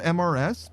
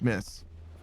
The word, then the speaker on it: Mrs: So, her name is spelled MRS, but it's pronounced Miss.